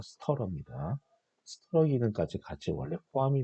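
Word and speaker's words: stirrer: 가열기는 이 스터러, 이거 발음이 스터러라고 읽으셔야 됩니다. 스티어러가 아니라 스터러입니다.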